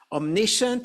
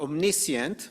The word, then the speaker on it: omniscient: which means all powerful omniscient or omniscient both pronunciations by the way are correct all knowing meaning God